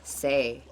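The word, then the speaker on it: 四: not making that movie number four in cantones is pronounced say this sounds matches the word death in the language for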